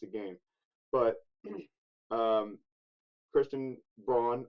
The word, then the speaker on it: Braun: I'm not going to say like throw him in for 28 minutes a game, but um, Christian Braun, I refuse to pronounce it Brown.